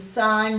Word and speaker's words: sign: and we're looking at the silent G in sign design assign NAT no and gnarly now if you haven't